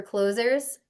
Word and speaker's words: Clohz: And I decided to use a spin on the word, and that's why it's spelled oddly, CLOHZ. So close, like deals closing.